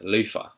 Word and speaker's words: Luther: was pronouncing it as Lofah. Lofah. So, British people sometimes drop the th to an F sound.